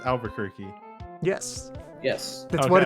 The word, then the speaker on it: Albuquerque: is it literally just pronounced Albuquerque?